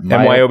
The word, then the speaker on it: MYOB: MyOB.